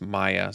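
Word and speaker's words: Maja: much i love maya someone said i was pronouncing this wrong it's maya so i love this card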